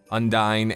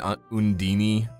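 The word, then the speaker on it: Undine: Undini. Both pronunciations actually work with that. Undyne and Undini are both proper pronunciations.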